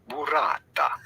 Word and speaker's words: burrata: We are looking at how to pronounce burrata. Burrata. Okay. Burrata. Say that. Boy, that's a bunch of R's you got to roll.